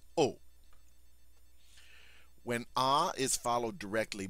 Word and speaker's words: au: the new word o Au pronounced o when a is followed